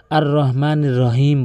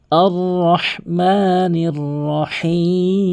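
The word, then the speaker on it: الرَّحْمٰنِ الرَّحِيمِ: দুইটি রয়েছে, সেটি হচ্ছে অধিকাংশ লোক আর রহমানির রহিম বলে, আর রহমানির রহিম বলে। সম্পূর্ণ ভুল, সঠিকভাবে উচ্চারণ করতে হবে হাটি হলকের মাঝখান থেকে, আর রহ এভাবে উচ্চারণ করবেন।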